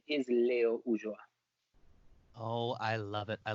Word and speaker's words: Ulloa: The correct pronunciation is Leo Ulloa.